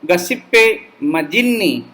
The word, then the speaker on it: Giuseppe Mazzini: Today morning, while going through and practicing this lesson, I found that the Italian pronunciation of these things are quite different than our English accent, so also the American English.